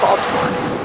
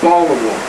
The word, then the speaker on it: Baltimore: Now, I'm a Baltimorean, so I say Baltimore, but Baltimore is how most people pronounce it. I'll bet you guys from Baltimore say Baltimore too. If you've lived here a while, you would kind of forget the T.